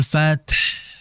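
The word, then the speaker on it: الفتح: Maka hati-hati jangan sampai dibaca wal fath atau wal fath. Tidak. Tetap hannya dialirkan. Idza jaa nasrullahi wal fath.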